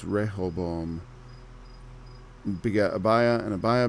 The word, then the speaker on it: Rehoboam: roboam ribeaux 'm a rebel is like a syllable missing there and Hebrew it's Rehoboam beget abaya and a bio begat ASSA a